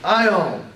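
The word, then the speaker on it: αἰών: vowels alpha and yoda these two vowels are pronounced like a i in isle isle a greek word with these two vowels in it is ion ion ion is the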